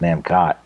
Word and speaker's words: Namcot: As the logo says in Japanese, or not Japanese, it says it printed right there, Namco with a T on the end, so I'm assuming that's pronounced Namcot. So, I am completely at a blank for this, what it is, other than cool looking.